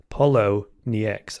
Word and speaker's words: Poloniex: There's a debate how you pronounce that. Poloniex, I think it is.